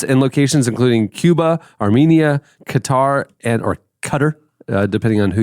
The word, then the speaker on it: Qatar: Well, I always get stumbled up on it because it looks like guitar and I know it's not guitar.